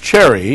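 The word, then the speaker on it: Cseri: the intro they saw your last name CS e r i pronounced Cherry yes indeed and the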